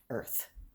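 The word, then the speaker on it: Urth: but what your master calls it is earth yeah because it's spelled u-r-t-h so we're like earth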